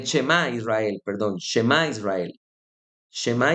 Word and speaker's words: Shemá: Shemá Israel es en la oración y se pronuncia así, Eshmá Israel.